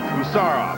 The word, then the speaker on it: Gusarov: beur read it nicely good savear Gar second syllable second syllable Taran off usar off and Chin off hey you got to